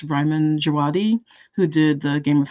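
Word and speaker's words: Ramin Djawadi: A lot of Thomas Campion, a lot of, I can never pronounce his name properly, but I think it's Ryman Djawadi, who did the Game of Thrones soundtrack, and he does Westworld and things like that.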